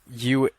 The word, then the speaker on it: Eulalie: It's pronounced Eulalie.